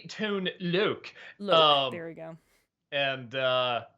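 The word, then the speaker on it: Tone Lōc: name of rapper actor tone lock uh it's actually tone Luke very we go and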